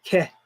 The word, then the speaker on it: Heth: It says Heth or Ket, because actually, where you see it saying Heth here, you know, Ket is actually the way that they pronounce it.